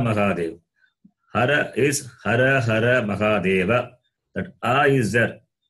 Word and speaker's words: Mahadeva: But in Hindi, the last vowel is always cut, not pronounced. But in Saṃskṛtam, it is not like that. So Saṃskṛtam, all the Uccharanam of every letter as it is must be pronounced.